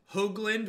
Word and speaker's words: Hoagland: bless us everyone you that's Hoagland with a long Oh like spelled like HOA G would be the pronunciation do I write first